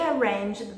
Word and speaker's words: arrange: They arranged the meeting. Arrange. Arrange é com a pronúncia do R do inglês. Então, arrange. Se você falar arrange, ninguém vai entender isso, porque ri é a pronúncia do H.